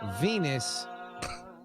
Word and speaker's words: Venus: you know i mostly know astrologically speaking that venus rhymes with penis average is 5.6 exactly